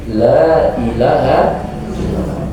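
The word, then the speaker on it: لا إله إلا الله: yang paling utama laahaallah perkataan Lailahaillallah bukan Lailahaillallah tapi lailaha allah karena kalau bacanya cepat Lailahaillallah Lailahaillallah Lailahaillallah itu artinya nanti jadi mengerikan karena kalimat lam di sini lamnya lam panjang lamun nah lam peniadaan Lailahaillallah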